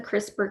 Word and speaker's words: CRISPR: so crispr is an acronym and see this is spelled correctly here c-r-i-s-p-r crispr just no e okay and so crispr